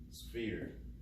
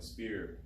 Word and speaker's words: sphere: The hardest part of your sphere is probably pronouncing it. Sphere. Most people like to say like a spear or something.